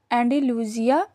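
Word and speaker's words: Andalusia: Pronunciation इसकी क्या है एंडालूसिया।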